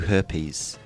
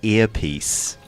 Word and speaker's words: earpiece: and went what and what he was trying to say was I'm going to give you an earpiece okay which is the H again is it yeah it's an intrusive AG intrusive AG the invasion